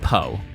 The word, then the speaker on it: Po: Uh, you can pronounce it Po like the author Edgar Allen Poe.